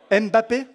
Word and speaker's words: Mbappé: tu peux aller t'asseoir merci alors Neymar Messi Mbappe j'arrive jamais le prononcer correctement Mbappé voilà bon on s'est compris alors volonté du